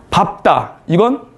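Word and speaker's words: 밟다: 문법 문제.이 밥다의 발음을 쓰고 르브받침의 발음이 넓다와 다른이를 쓰 이건 어떻게 발음한다고요? 밥다 이건 넓다예요. 넓다. 밥다 넓다.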